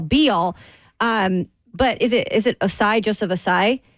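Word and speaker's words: Ossai: But is it Osai, Joseph Osai? Joseph Osai is I think how you pronounce the wide receiver. That's how you pronounce it.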